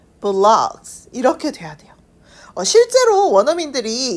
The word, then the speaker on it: vlogs: 브이로그는 요렇게 쓰는데 이걸 브이로그라고 읽지 않고요. 발음이 vlogs 라고 읽으셔야 됩니다. 자, 우리가 발음을 다시 확인해 보면 I usually watch travel vlogs. vlogs 이렇게 돼야 돼요.